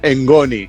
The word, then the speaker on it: ngoni: Esto se llama engoni, ¿vale? Es un instrumento africano, sí, pero se escribe n g Sí, sí, o n i.